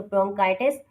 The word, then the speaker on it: bronchitis: सी एच बहुत सी जगहों पर चे की आवाज़ निकालता है और बहुत सी जगहों पर के की आवाज़ निकालता है, तो यहाँ पर सी एच की जो प्रोनाउंसिएशन होगी वो के की साउंड में होगी।